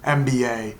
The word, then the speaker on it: MBA: mba not a mba because when you pronounce mba m is pronounced e m m so it's a val start hence nba instead of